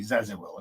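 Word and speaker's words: Zäziwil: i w i l now that's not easy zazil okay um zazil is near burn this one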